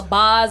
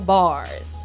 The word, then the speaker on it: Bahhs: And that's Boz, not Bars. Not Bars, Boz, because she got Boz. Yes. So can you explain the name to us, as opposed to Bars?